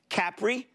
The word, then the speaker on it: Capri: of a wild card capri uh which by the way that's how they pronounce it over there capri holdings tapestry louis